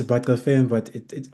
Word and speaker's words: Batabile Sibaca: Um, it is Batabile Sibaca, but depending on this on certain sectors and corners in South Africa, the pronunciation is pronounced very differently, which I try to